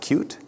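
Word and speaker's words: Qt: this and that is the technology from the cute company it's spelled cutie it's pronounced cute this is a company that years ago is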